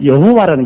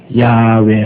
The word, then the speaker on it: 야훼: 여러분 하나님 성함도 여호와라는 것은 이것은 미국 영어식 발음입니다. 미국 영어식 발음. 제호바, 여호와. 그러나 원래 하나님이란 히브리 원어는 우리가 늘 말하는 야훼입니다. 야훼 하나님.